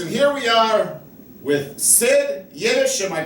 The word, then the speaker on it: Sid Yiddish: you are Ghoulies and here we are with SID yesh am i pronouncing that right yes you are definitely all